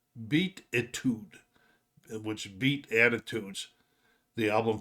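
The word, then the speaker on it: Beatitude: the time he list to this one this pronounced beat itude which beat attitudes the album picked number 28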